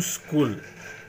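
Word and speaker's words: σχολή: Karl Marx द्वारा एक नया थेसिस, एक नया विचार, एक नई सोच जो आगे आई, उसके ऊपर ये न्यू स्कूल तैयार हुआ।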